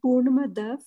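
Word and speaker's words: पूर्णमदः: Tanmayji, I have a question from that Purnamada. When we say, don't we pronounce it as fur? And yesterday in the class, and even otherwise, I remember that there is there's nothing like fur. It's per.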